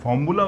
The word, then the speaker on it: formulae: अच्छा, फार्मूला word जो है सिंगुलर है, सिंगुलर।